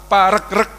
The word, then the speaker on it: Paregreg: namanya Perang Paregreg Hai saya tanya ke beberapa ahli yang betul itu dibacanya Paregreg apa Paregreg ternyata yang bener dibacanya Paregreg karena regu regu ya ini menunjukkan perangnya